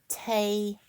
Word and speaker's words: Taino: It is pronounced Tay with a long A, Taino.